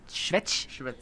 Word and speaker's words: Švec: Yeah, we had Michal Swek here, and everybody was saying Swek, but I heard it in Czech you say Švec.